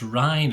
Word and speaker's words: Rein: Yes, it's absolutely rain and shine, but the rain is actually pronounced Rhine as far as I know with Reinders.